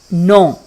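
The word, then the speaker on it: know: नो में के जो है ये साइलेंट होगा, इसको नहीं पढ़ेंगे, ये हम पढ़ेंगे नो, आई डोंट नो। ठीक है, नो नहीं कहना इसको, इसको बोलना है नो, आई डोंट नो।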